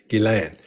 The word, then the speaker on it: Ghislaine: All right, we finally hear how her name is supposed to be pronounced, Ghislaine.